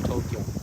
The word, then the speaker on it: Tokyo: had ever corrected me do you say tokyo or tokyo tokyo yeah tokyo two syllables uh for japanese we